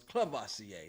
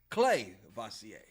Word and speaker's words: Clavacia: I just realized I've been saying it wrong. I thought it was Cleasier. No, it's Clay Vasier.